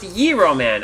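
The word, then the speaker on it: Gyro Man: It's pronounced Yiro Man.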